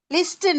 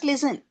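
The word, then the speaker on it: listen: லிஸ்டின் நாட் லிஸ்டின் டி உச்சரிக்க கூடாது. Just லிசன்.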